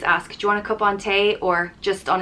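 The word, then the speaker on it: cupán tae: caponte which means cup of tea and it's pronounced i always use kopante if i'm offering someone a cup of tea i always ask do you want a cup ontay or just on its own cupante this is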